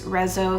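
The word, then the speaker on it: Rezső: The song was composed by, I'm not sure how to pronounce his name, but I think it's Rezo Serres, R-E-Z-S-O, Serres, while he was living in Paris in late 1932.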